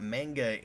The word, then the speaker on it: manga: Which is the same reason it's pronounced manga and not manga, and people got the memo on that a lot of years ago.